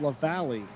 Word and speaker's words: La Valley: Being told that it's pronounced La Valley, which is all well and good.